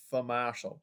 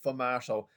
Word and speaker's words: sfumato: so say that yourself for martial okay now the s is silent so for martial and this means smokey